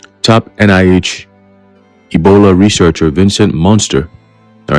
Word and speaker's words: Munster: a guy called Vincent Munster, all right, even though it's spelled with a U instead of an O, we understand that it's more of a play on words. All right, it's pronounced the same, so it carries a